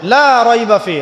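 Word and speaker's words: لا ريب فيه: এখানে লায়ের উপর কি মদ আছে? লায়ের উপরে কি মদ আছে না? লাকে টানতে হবে না? কি বলেন? লাকে টানতে হবে না? লাকে টানতে হবে, লা রাইবা ফি, লাকে টানতে হবে।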